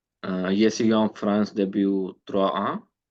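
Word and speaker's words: trois ans: Same with en. 3 ans. Oh. 3 ans. The Z sound makes your pronunciation easier.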